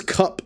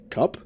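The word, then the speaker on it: Kupe: there his name is cup I think I think it's spelled k-u-p-e so cup oh it is okay it's only cup okay I wasn't even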